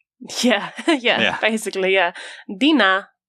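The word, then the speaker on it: dinar: Basically, yeah, Dina. Dina. It's kind of a bit more like a a sound at the end. It's literally spelled D I N A. So, dinina.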